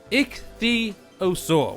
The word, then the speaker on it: Ichthyosaur: The water tame creature for today is the ichthyosaur, which is a dolphin. I had to really look how to pronounce that.